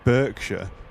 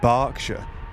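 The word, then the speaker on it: Berkshire: I R E and you don't want people to call it Burkshire, but you want them to call it Barkshire, write it B A R.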